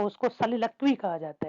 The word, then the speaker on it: soliloquy: इसको कुछ इस तरह से प्रोनाउंस किया जाता है सलीलक्वी, ठीक है ना।